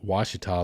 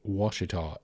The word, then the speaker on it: Ouachita: But it is pronounced, I suppose, Ouachita, and it has been bastardized in a way in certain scenarios.